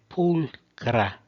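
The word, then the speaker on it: pulchra: A última é pulcra. Lembrando que o CH soa como C.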